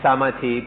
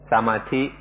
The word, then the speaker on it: samadhi: Thai pronunciation is samadhi, and often you'll hear foreigners pronounce it samadhi.